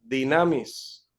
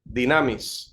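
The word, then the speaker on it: δύναμις: utiliza la palabra griega dinamis o ahí tomamos la desinencia dinami pero en realidad siempre es dinamis o es el término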